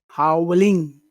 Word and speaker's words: howling: Yeah, it's important to put the emphasis on the right syllable. So it's not howling, it's howling. Is howling. No, Howling. not ling. Howling. Don't put too much emphasis on ing because that's a very insignificant sound. It's howling.